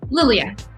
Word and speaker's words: Liliya: Did I pronounce it right? Is it LILIYA? LILIYA. LILIYA. Oh, I like that. Yeah, you can call me Lily. Lily. No, I like how you pronounced it, LILIYA.